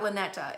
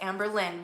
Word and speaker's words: Amber Lynn: And no, not Lynetta. It's Amber Lynn.